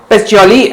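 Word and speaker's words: Pacioli: इसे सर्वप्रथम हमारे लेखांकन के जनक , लूका पैसिओली द्वारा प्रस्तुत किया गया था; यह एक इतालवी शब्द है, इसलिए इसका उच्चारण पैसिओली है।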